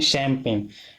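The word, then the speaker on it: champagne: अगला देखते हैं शैम्पेन। शैम्पेन CHAMPAGN, इसमें जी छूट जाता है ना।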